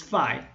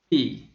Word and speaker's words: phi: standard normal distribution the teacher might tell you this letter is 5 but they were wrong again the consonant is the same as f the vowels are different actually the sound i is rare in modern greek the correct sound of this letter should be e let's repeat v e okay let's move